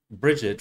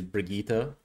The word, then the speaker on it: Brigitte: You know, in that last one that was animated, it actually made her look like Bridget from Overwatch, or I hear the proper pronounce is Brigitte.